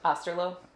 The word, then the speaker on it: Osterloh: going to stick with aslo it's pronounced just like it's spelled y beautiful uh so